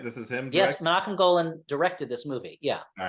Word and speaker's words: Menahem Golan: Yeah, this is not only Golden Globus, this is a Menahem Golan film, right? This is him. Yes, Menachem Golan directed this movie.